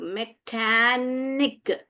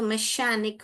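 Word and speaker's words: mechanic: देखिए म ए ख यहां पर क बोलता है यहां पे मै खान इक मैकेनिक मैकेनिक देखा कैसे पढ़ा मैंने मैकेनिक को जोड़ के ही पढ़ा आपके सामने ही पढ़ा मैंने तो इसको अगर च पढ़ेंगे तो हम मैकेनिक हो जाएगा इश पढ़ेंगे तो मैशानिक हो जाएगा ओके तो हम क्या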